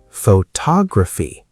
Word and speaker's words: photography: Photography. Now the stress moves to tog.